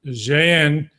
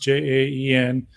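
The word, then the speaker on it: Jaén: pretty close to here in Jen I believe it's pronounced J aen uh two of her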